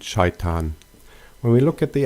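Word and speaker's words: شيطان: In Arabic, they are pronounced as Ibrahim and Shaitan.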